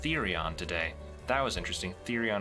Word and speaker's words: Therion: Oh, I heard it's pronounced Therion today. That was interesting. Therion instead of Tyrion.